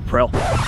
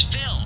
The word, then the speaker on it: Phil: Alright, got you back, Prill. What did you just say? Prill? It's Phil, not Prill.